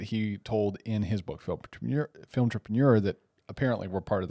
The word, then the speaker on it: Filmtrepreneur: Filmtrepreneur, like entrepreneur, but combined with film.